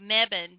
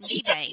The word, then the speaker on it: Mebane: I live in a town called Mebane, but everybody, the way it's spelled, they pronounce it Mebane.